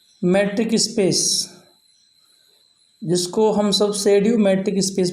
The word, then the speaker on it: pseudo: जो टॉपिक है बेटा सेमी मैट्रिक स्पेस, जिसको हम सब शेड्यू मैट्रिक स्पेस भी कहते हैं। पी को साइलेंट हम सब यहाँ लेते हैं।